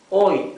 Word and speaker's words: hoy: Hoy for today. Hoy. Also mute H.